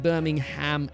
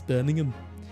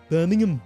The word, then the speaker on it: Birmingham: So, in in the British accent also, you don't, it's not like Birmingham, Alabama. It's Birmingham. Birmingham. You don't say the You don't say the H.